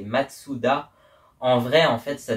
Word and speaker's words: Mazda: Mais du coup en japonais comme on peut pas mettre deux consonnes à la suite et ben ça se prononce Matsoua et le fondateur s'appelait Matsoua. Écrit vraiment Matsoua.